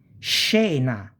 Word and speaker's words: scena: Scena, SC plus E. Scena is a scene.